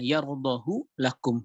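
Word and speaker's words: يرضه لكم: Justru dibacanya menurut Hafiz an Asim, menurut riwayat Hafiz an Asim, justru dibacanya dengan memendekkannya. Yardahu lakum.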